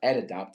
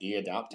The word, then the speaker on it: EdAdapt: So EdAdapt is pronounced EdAdapt, not EAdapt, which we get ourselves into trouble with that.